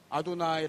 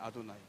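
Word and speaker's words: אֲדֹנָי: 성경에서이 사람들이 읽을 때 걸 뭐라고 발음하면 이렇게 발음한다고 아도나이 발음해요 아도나이 근데이 아도나이요 말을 나타내는게이 말이에요 큐리오스고 주 주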